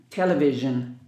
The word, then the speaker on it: television: Pay attention to S-I-O-N, Zhen, television.